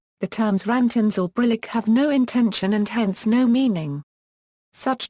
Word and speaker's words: intension: Note: intention and intentionality should not be confused with intention and intentionality, which are pronounced the same and occasionally arise in the same philosophical context.